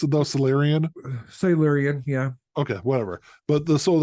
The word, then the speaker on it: Silurian: Is that how you pronounce it though? Silurian? Silurian, yeah.